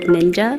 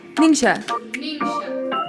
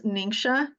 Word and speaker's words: Ningxia: So it's always a joke about how to pronounce Ningxia. And it's okay if you call it ninja because I know that it's a little bit challenging. So it's Ningxia, N-I-N-G, like S-H-A, Ningxia.